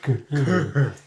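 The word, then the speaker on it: Ghur: Yeah, which is spelled not like Tony the Tiger Gur, but I think like G-H-U-R. Like Gur.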